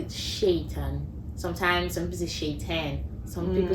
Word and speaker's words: Seyitan: I think my own was the pronunciation of my name. Nah. I had never. So my name is Seyitan, right?